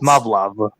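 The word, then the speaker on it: Muv-Luv: I think it's pronounced Muv-Love.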